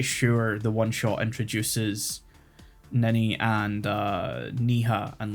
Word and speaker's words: Ninny: It's Ninny, but I think pronounced Nini in English sounds- doesn't sound Yeah, right better at to all.